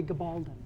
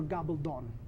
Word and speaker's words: Gabaldon: in East LA named Guy Gabaldon, or Gabaldon, depending on how you want to pronounce it.